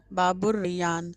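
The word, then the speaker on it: باب الريان: ये अलिफ और नून बाबु रयान अलिफ और लाम साइलेंट सेय पढ़ा नहीं जाएगा लिखा जाएगा बाबु रयान बाबु रयान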